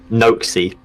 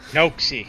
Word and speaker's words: Noakesy: Noakesy. Noakesy.